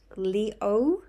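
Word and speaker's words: 六: another lucky number is the number six pronounced Leo similar to the pronunciation of the word flow or smooth also pronounced Leo but I'm much but it's got a downward inflection which I obviously didn't do um the number six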